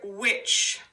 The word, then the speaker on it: which: hear the whoa yes does the h in the would sound make a sound we hear whoa whoa oh really your H is kind of like a silent partner to the W so your H is